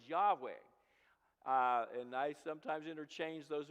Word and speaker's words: Yahweh: Jehovah, and perhaps the more correct pronunciation of that word is Yahweh.